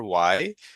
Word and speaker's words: why: So for these five words, uh, who, what, when, where, why, generally stress the W pronunciation more than the H. The H is generally silent.